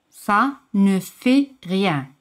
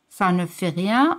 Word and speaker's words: ça ne fait rien: Ça ne fait rien, que es no importa. Ça ne fait rien, o si puedes pronunciarlo así, ça ne fait rien.